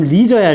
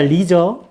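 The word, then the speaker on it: leisure: 자, 그 리저 발음 리저야. 리저.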